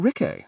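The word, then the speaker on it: Rikke: I'm Rick, said Rick. Rhymes with yes, said Sulfur, smiling up.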